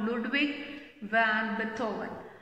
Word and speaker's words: Ludwig van Beethoven: Ludwig van Beethoven. That is Beethoven. Remember the pronunciation of this. Ludwig van Beethoven.